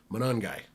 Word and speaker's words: Monangai: Monangai.